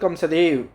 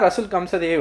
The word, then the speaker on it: ரசூல் கம்சதேவ்: இதில் பாருங்கள், தமிழ்நாட்டின் ரசூல் கம்சதேவ், அதில் கம்சதோவ் அப்படின்னு கொடுத்துருந்தாங்க. ரசூல் கம்சதேவ் அப்படின்னு தான் ப்ரொனவுன்ஸ் பண்ணணும்.